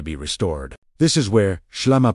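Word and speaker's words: ܫܠܡܐ: This is where SHLAMA pronounced SHLAMA, wholeness, completeness.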